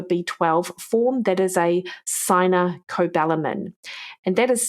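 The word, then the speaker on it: cyanocobalamin: clear of a B12 form that is a sin cobalamin and that is spelled c y n a sin cobalamin c b a l i m so you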